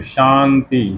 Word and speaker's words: शांति: और शंभु, शांति, वही तालव्य स, उसके ऊपर बिंदी और ती, तो शांति शांति, वो न का उच्चारण कर देते हैं, उसको हम न बोलते हैं और शांति हो जाता है।